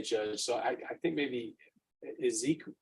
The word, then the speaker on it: Esequiel: There's to be no contact with Tiffany, Tiffani, Ares, Ayres, Wayne McClintock, Esquivel, is it Esquivel? It's spelled in an unusual way, Judge. So I think maybe Ezekiel, it's Ezekiel, but just spelled in an unusual way.